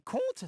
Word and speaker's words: conte: Comte et conte, ça se dit pareil.